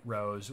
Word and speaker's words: RoHS: of hazardous substances directed rohs pronounced rose always do lead free